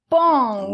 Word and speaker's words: paon: Il faut faire comme si le O n'existait pas ! Donc ça se lit comme c'est écrit ! P, A, N. C'est-à-dire, ", avec la nasale qui ressemble à un A là, , .